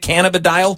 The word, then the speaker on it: cannabidiol: the dial is that how you say it cannabidiol yeah I thought it was Kent cannabidiol I